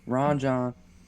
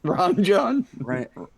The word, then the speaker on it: Rajan: But Ron John, that is not how you say it. Ron John. Rajan. Rajan. Rajan, I had it right.